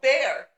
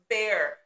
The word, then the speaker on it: Bexar: And so I'm like, oh, Bear. And she's like, no, that's Bexar. And I'm like, no. It's pronounced Bear. The X is silent.